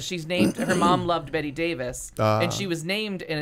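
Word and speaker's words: Bette Davis: there was no TVs she thought her name was pronounced bet Davis uh by the way it was spelled so she didn't find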